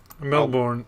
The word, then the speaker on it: Melbourne: Is that how you pronounce it? Melbourne, yeah.